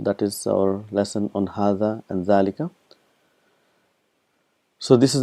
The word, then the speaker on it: هذا: So we've learned that hadha and dhalika is one of those words where it is pronounced but it is not written.